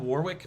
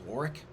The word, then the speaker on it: Warwick: Warwick it's spelled Warwick, but I think it's pronounced Warwick.